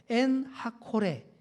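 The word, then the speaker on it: עין הקורא: 바로 엔하 꼴의 입니다 이게 히브리어 정확한 바로 발음으로 엔하 코레 라고 하는데 이게 바로 무슨 뜻이냐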